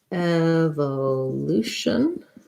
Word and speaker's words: evolution: evolution and ladle so evolution as second to last syllable stress has the e in this first syllable eva um the o says vowel schwa because it's unstressed and then we have the tense and then our tion ending just has a schwa and our evolution